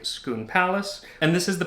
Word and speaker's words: Scone: where the stone of schoon and schoon is spelled scone s-c-o-n-e it is not pronounced that way and it has nothing to do with the food um but the stone